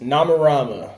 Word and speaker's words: Nomarama: far in this interval oh so am i pronouncing or is it nama Rama no correct nama Rama okay all right so this is jor-el of